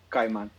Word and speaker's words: Caimán: So think of Kai as in Kai. So it's spelled Caima with an accent on the A, then N. But imagine you're just saying Kai, Kai, and then man, Kaiman.